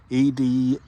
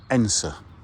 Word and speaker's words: Edensor: Edensor, but pronounced Edensor, E-N-S-A. Well, if you speak in Yorkshire or Derbyshire, that's kind of how we pronounce it. And there's Edensor Church, and what I